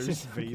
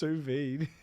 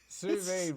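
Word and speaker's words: sous vide: How does it How is it pronounced? Suvid. Suvid. Whatever. Sus V.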